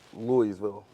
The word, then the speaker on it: Louisville: Coming back here, I used to call it Louisville. I would pronounce it the way it's spelled. I never had the O in my vernacular for some reason. My daughter says Louisville.